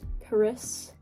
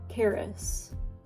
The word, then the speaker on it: Karis: It's really my middle name, and I know you're thinking like, Karis? No, Karis. I've always told people that it sounds like the word carrots, but you're not saying the T, so it's just Karis.